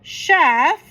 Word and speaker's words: chef: And then it also goes shh. So, chef right here, chf.